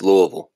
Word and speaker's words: Louisville: in the day Blake are we at least pronouncing Louisville right or is it Louisville no it's Louisville okay Louisville um guys